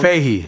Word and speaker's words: Fahey: You got Jeff Fahey. Am I gonna say that Jeff wrong? Fahey. Oh, Fahey. Oh, That's excuse me. Fahey. It's spelled Fahe.